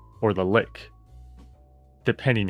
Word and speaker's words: lich: But yeah, apparently it's like I think the correct pronunciation is lick, but I don't know. I like saying lich. I think it just sounds better.